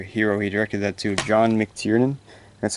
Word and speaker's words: John McTiernan: last action your hero he directed that to john mctiernan that's how you pronounce his but this is a great movie